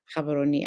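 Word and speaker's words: Gaborone: And as Miss Kim said, it's pronounced, it's spelled with a G, but pronounced Kabaroni.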